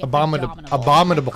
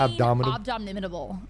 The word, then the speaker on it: abominable: I could not say abominable. Abdominal is a different thing. Abdominal are your abs. Wait, did I not say it right? I kept saying abdominable.